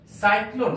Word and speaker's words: cyclone: साइक्लोन, सी के बाद वहां पर वाई है, इसलिए सी का उच्चारण पर 100 के समान हुआ है।